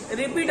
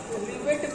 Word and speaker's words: rivet: रिपीट नहीं बोलते हैं उसे, ठीक है? यहाँ की लैंग्वेज में आपको नहीं बोलना है, उसका जो मतलब सही प्रोनाउंसिएशन है उसको बोलते हैं रिवेट, RIVET।